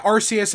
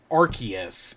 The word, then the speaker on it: Arceus: So yeah, but so the reason I know it's Arceus and not Arceus, and it's not because Arceus has arse in it, right? Ass, like the British pronunciation of ass.